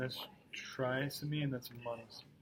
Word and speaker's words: monosomy: trisomy and that's monosomy, right?